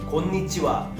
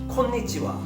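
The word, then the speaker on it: こんにちは: 그러니까 우리나라 사람들이 일본어를 구다사이 곤니치와 이렇게 발음하는 것들을 자세히 알아보면요 쿠다사이, 콘니치와 약간 이런 스타일이에요.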